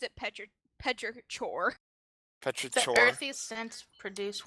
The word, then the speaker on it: petrichor: They pronounced it Petrichor.